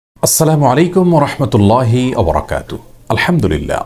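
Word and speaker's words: السلام عليكم: দ্বিতীয়ত যে ভুলটি আমাদের হয়ে থাকে তা হলো বিকৃত এবং অশুদ্ধ উচ্চারণে সালাম দেওয়া। অনেকে সালাম আলাইকুম, অনেকে সালাম আলাইকুম এরকম বিভিন্ন বিকৃত উচ্চারণে সালাম দিয়ে থাকেন।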